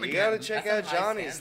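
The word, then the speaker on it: Gianni's: Oh, it's this place called Johnny's, but it's spelled Gianni apostrophe S, and it's over in like the that Clinton Hill area.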